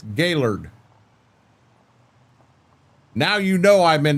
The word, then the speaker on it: Gaylord: When I read that, Northern Michigan, and I pronounce it Gaylord, you know I spend time up in that area. Because 95% of the people in here would read that as Gaylord. And it's not Gaylord, it's Gaylord.